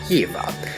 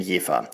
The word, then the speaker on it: Jever: richtig aussprechen sollte und da das V in Deutschland meist als W ausgesprochen wird etablierte sich schnell das Wort Jea das ist bis heute